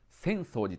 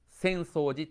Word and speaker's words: 浅草寺: 方でしょうかねこのように変えています地名は土地の